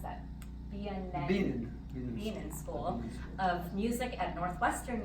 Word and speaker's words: Bienen School: In 1992, he joined the faculty of the Bien School, or how do you pronounce that? Bienen School of Music at Northwestern University.